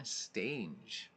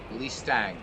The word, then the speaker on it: Stange: So also, before we get started in that ballpark configuration screen, so it's pronounced stang, stang, like as in hang or bang. Lee Stang.